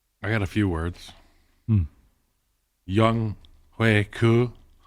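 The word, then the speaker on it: Younghoe Koo: Young Hui Koo and Kendall Fuller. Why'd you say it like that? because that's how I've heard it pronounced on the broadcast. And I was surprised because I've been saying Young Hoku.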